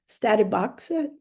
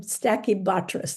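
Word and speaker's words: Stachybotrys: to note is that not all mold which is black is ster um sorry statti boxa I'm not pronouncing it black mold um stacky bis there we go not all black mold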